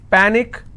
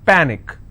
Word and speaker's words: panic: but one syllable so let's break this panic is per nick which means i will stress on pa and it's pronounced that panic tragic trick i will